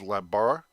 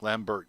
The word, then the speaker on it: Lambert: Um I know I believe the French pronunciation in in in English is Lambar. Uh I know the spelling of it makes you think Lambert, but I think it's Lambar.